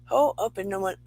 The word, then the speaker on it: Ho'oponopono: Ho'oponoponono. I think that's how you say it. And it's an old Hawaiian prayer. Ho'oponopono.